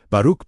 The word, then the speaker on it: Baruch: Baruch, pronounced Baruch, is the Hebrew-Aramaic root for blessing, but its depth far exceeds the English word.